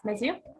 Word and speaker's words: Mazir: So please take the floor and just, yes, Mazir? Yeah, I'm pronouncing that right. Yeah, that's Mazir.